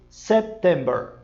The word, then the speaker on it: September: Este aqui você tem que dar uma brecadinha na letra P. Ele é muito suave, mas ele é necessário. Você não pode, só porque uma letra muda, Você não pode dizer September, tá? Assim como a gente diz assim, setembro. Você diz sep. Você dá brecadinha no P e diz September.